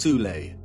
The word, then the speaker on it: Thule: Prior to the rise of the Nazi regime, there existed an occult secret society within Germany called the Thule Society, sometimes alternatively pronounced Thule, that had sub-factions within it.